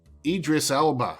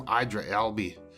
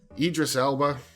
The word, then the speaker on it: Idris Elba: is Tilda Swinton and I always say his name wrong. I gotta actually look at it. Idris Elba. I always call him Idra Elby. Idris Elba.